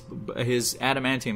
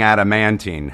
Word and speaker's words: adamantium: Stop saying adamantine. Stop saying it. You don't even know if it's a real thing. I'll stop saying it when you start saying it correctly. Adamantium.